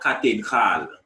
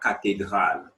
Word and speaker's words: cathédrale: La cathédrale. La cathédrale.